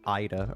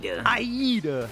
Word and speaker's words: Aida: They call her Ida or they say Aida, and she hates that. Yeah, Aayita is kind of Aayita is pretty cringe. It's cringy. Aida.